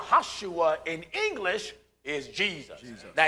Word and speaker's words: Joshua: the son of nun there is no JS in the Hebrew language so the proper pronunciation of Joshua would be yahushua that's right yahushua in English is Jesus